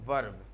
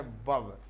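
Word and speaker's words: verb: अभी तक इसको आप पढ़ते रहेंगे वर्ब। क्या पढ़ते रहें? वर्ब। लेकिन आज के बाद ये ध्यान रखना, इसका रियल प्रोनाउंसिएशन जो है वो है बब। क्या बोलेंगे हम लोग? बब। इसे बोलेंगे बब, ऐसा बोलेंगे आप, बब।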